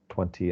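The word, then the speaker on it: twenty: pity and 20 but the correct pronunciation is with the T 20 and 50 it's just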